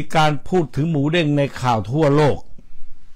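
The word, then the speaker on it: หมูเด้ง: ใน ข่าว ทั่ว โลก แต่ ปรากฏ ว่า พอ ฟัง แล้ว ฝรั่ง เรียก ออก เสียง เด้ง ไม่ ได้ ครับ กลาย เป็น หมู แดง หมู แดง ออก ฟัง รู้ สึก เหมือน หมู แดง ลูก ฮิปโป แครส ก็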